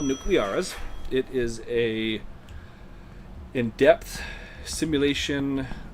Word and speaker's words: Nucleares: Look up Nuclearis. Mar, look in the title of my stream. It's spelled. It's the word nuclear, but in Spanish. Nuclearis. There you go.